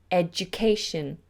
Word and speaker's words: education: major boost language education so here the just sound is represented by a D you a Jew a Jew education and that happens a